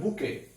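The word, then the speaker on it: bouquet: এবার দেখো বুকে। দেখো এখানে এই ওয়ার্ডটা দেখো যে বুকে ওটা ফুলের তোড়া। ওকে, তো বুকে দেখো কুয়েট টির কিন্তু উচ্চারণ নাই এখানে।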